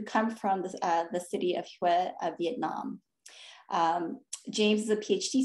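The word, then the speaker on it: Huế: Is it Huy or Hue, James? It's Hue. You said it right the first time.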